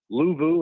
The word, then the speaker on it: Luvu: Luvu, is that his name? How you say it? Luvu?